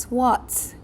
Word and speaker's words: SWOT: Another things we have to concern, SWOT is pronounced as SWOT.